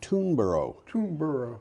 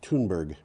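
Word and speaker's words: Thunberg: you know but in in kind of off-handed english it becomes oro so this would be be toonborough but it's toonberg anyway you've read the the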